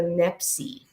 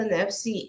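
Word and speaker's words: NEPSY: have them to administer a test called the nepsi n-e-p-s-y-e is spelled in a weird way and this test one of the subtests of the nepsi is processing speed um and you'll learn very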